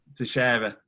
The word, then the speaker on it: Teixeira: Is it Glover Teixeira? Is that right? Or have I butchered his name? Teixeira.